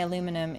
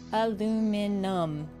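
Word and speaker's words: aluminium: Uh, hearing Americans say aluminum is weird. I don't know why y'all say aluminum because there's no extra eye. Aluminum. That's the correct way to do it.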